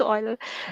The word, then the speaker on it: Euler: It's pronounced Euler.